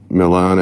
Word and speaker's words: Milan: family that live at 804 Milan Avenue or Milan Avenue depending on how you like to pronounce it and I'm here to